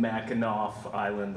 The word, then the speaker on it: Mackinac Island: And I'm from Mackinac Island. I know the C is pronounced like nap, so.